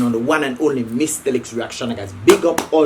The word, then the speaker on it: Mystelics: reaction on this year, the one and only Mystelics reaction, guys. Don't forget it. Sometimes I'll be saying my name all the time, Mystelics.